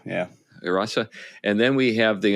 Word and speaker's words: Hrossa: The Hrossa, yeah. Rasa. And then we have the unpronounceable group, which is like moles who are really skillful at making things.